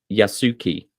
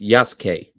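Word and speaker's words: Yasuke: Well, that's that's the thing though is that the U is not silent. It's just crushed.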